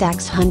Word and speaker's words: dachshund: badger hund meaning dog dachshunds pronounced ax hunt never - how can